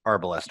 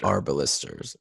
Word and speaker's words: arbalester: And just because I am the podcast historical pedant, before we get started, for the record, it is pronounced Arbalester. Arbalisters.